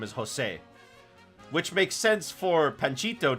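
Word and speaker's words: José: But ever since then, everybody calls him Jose, not Jose. Mad. I love the three caballeros. So I prefer Jose in his original appearance.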